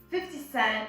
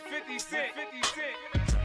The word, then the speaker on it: 50 Cent: So usually what a native speaker would do is actually the tongue would move as if you were going to pronounce the T, but then it is withheld, okay?